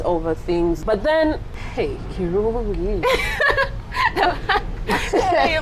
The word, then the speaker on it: Kirungi: But then, hey, Kirungi. You're pronouncing it, I like it. Kirungi.